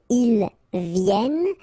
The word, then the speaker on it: viennent: venez, vous venez, alright, and then ils viennent. So remember, as usual in French, when we talk about conjugation, E-N-T at the end, you don't pronounce it here.